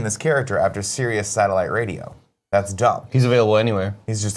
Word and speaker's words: Sirius: I saw the movie I thought it was Cyrus black no Sirius Black it is yeah and I was like why would they name this character after Sirius satellite radio that's dumb